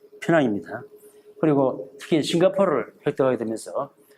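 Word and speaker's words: Penang: 늦게야 18세기 말에 영국 진출하고 대신 이제 처음에 돌아오자마자 보통 페낭이라는 정확한 발음이 이제 페낭입니다.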